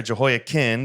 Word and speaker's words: Jehoiachin: And Jehoiachin, I'll adopt the correct pronunciation there, Jehoiachin, the king of Judah, gave himself up to the king of Babylon.